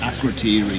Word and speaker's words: Akrotiri: Because I've been reading a book about Akrotiri. Pronounced right, Akrotiri, which is the in